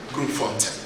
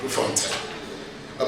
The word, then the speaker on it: Grootfontein: high treason case in the High Court at Grootfontein. Is that how you pronounce it? Yeah? Grootfontein. Okay. Grootfontein.